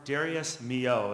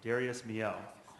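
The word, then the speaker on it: Darius Milhaud: I'll say the composer's name because it's not pronounced anywhere Darius moo is how you say the composer's name Darius moo um and as I've been told many times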